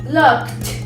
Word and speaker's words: looked: Nada más que aquí la pronunciación es con T. Entonces sería helped, looked.